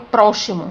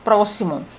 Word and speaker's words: próximo: Quando eu pronuncio essa palavra, eu não falo próximo, eu falo próximo. Então, tem o X com o som de C.